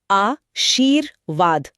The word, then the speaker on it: आशीर्वाद: इसका नियम है कि ये जिस अक्षर पे लगा होता है, इसका उच्चारण हमेशा उससे ठीक पहले होता है। अच्छा। तो शब्द को धीरे-धीरे बोल कर देखिए। आ शीर वाद। आ शीर वाद हां र की आवाज व से ठीक पहले आ रही है।